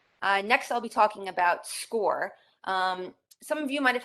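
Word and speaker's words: Scoir: last couple years again it's pronounced score your students will be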